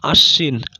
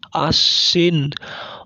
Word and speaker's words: আশ্বিন: তারপর পদের মধ্যে বা শেষে অবস্থিত কোনো বর্ণের সঙ্গে বফলা যুক্ত হলে সংযুক্ত বর্ণটির দ্বিত্ব উচ্চারণ হয়, যেমন আশ্বিন, আশ্বিন, অশ্ব, অশ্ব ইত্যাদি।